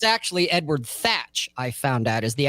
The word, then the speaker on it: Edward Thatch: edward tech or teacher whatever yeah it's actually edward thatch i found out is the actual pronunciation it's not teach but where he's going